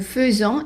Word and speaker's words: faisons: Now the S in nous faisons is pronounced as a Z, and that's because anytime you have one S between two vowels, it is pronounced as a Z.